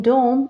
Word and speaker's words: dome: at this word again e is silent in this word the letter e is silent this is why I